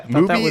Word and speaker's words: Mubi: Yeah, Mubi it's like good Tubi.